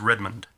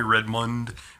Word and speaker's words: Redmond: pronounce my name right you can call me redmund Redmon red I don't know what I call I we have to ask my family when I get back there what how do we pronounce our last name how do you pronounce it red man but uh redmund is is I a really fast D for me you can barely hear it sometimes um but uh we'll